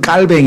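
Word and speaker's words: Calvin: 할 수 있는 요한 칼빈 리조또 뭐 장 깔 병이라고 나구요 불어로 바로 하면 이 이제 불을 써서 모국어로 사용하던 사람이기 때문에 불어로 에그 칼빈 일하는 사람의 발음은 깔 뱅 이에요 그래서 장 즉 좀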